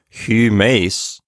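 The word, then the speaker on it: ὑμεῖς: And this is another good chance to practice pronouncing the upsilon. It's like the E in feet, but you round your lips. So humes, something like that, is how you want to pronounce it.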